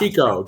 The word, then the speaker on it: Chiecko: Chiecko, just like Chico and the Man.